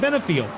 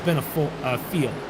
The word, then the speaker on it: Benefiel: I believe it's Benefiel, F-I-E-L, Fiel.